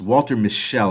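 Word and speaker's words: Walter Mischel: I believe is pronounced Walter Michelle I believe is how his name is pronounced and what he did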